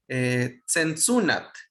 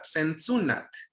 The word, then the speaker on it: Sensunat: Sensunat es la forma en que se pronuncia ahora, Sensunat.